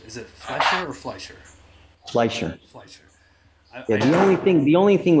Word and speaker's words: Fleischer: Fleischer.